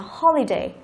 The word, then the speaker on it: holiday: Chúng ta đọc từ này là holiday. Holiday. Trọng âm thứ nhất đúng không?